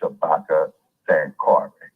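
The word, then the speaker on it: Shabaka Sankore: n k o r e the name is pronounced Shabaka San Cary and the University of San Cary okay which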